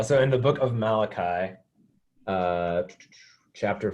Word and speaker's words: Malachi: of the Old Testament, the book of Malachi, Pronounced Malachi. Malachi.